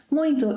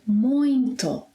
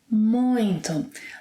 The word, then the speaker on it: muito: ‘Muito’ is a peculiar word. No one actually knows why there is a nasal sound in the middle of it. It is not ‘muito’, but ‘muinto’ – ‘muinto’.